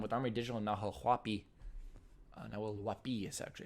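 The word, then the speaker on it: Nahuel Huapi: Nahuelhuapi is actually it's pronounced.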